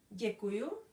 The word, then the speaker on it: děkuju: The reply to this is děkuju. That means thank you. So again, the followed by I with hook, and it's changed into j. We still have to pronounce the e.